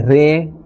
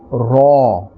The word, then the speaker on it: ر: And we are pronouncing this letter with a fuller sound. We will not say Re or Ra, but a fuller and a thicker sound, Ra.